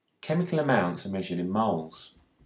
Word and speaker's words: mol: Chemical amounts are measured in moles. The symbol for the unit of mole is MOL, pronounced mole.